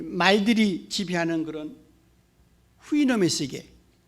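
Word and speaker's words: Houyhnhnm: 영어에 이렇게 자음이 6개, 7개 겹치는 경우가 없거든요. 모음 하나도 없이. 그래서 발음을 어떻게 할지 굉장히 아주 난감합니다. 그런데 대개 영미 사람들은 그걸 후이놈이라고 발음을 합니다. 후이놈.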